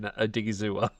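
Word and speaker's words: Odighizuwa: It's actually a fair bit of onomatopoeia in Odigizua. So it is actually, it sounds how it's spelt too.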